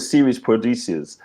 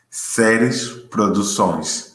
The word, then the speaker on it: Seres Produções: Some people you cannot pronounce it correctly, the name, because the Portuguese is that the Portuguese is different, in Angola. Say it again, because I call it Series Producers.